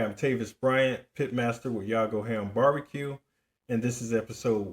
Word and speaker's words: Yago Ham: A lot of people have trouble pronouncing it, but it is Yago Ham Barbecue.